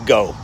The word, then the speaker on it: Geaux: And for you regular Americans, that's Geaux. Go.